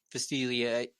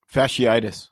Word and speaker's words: fasciitis: I can never pronounce it right. Fastilia. Fasciitis.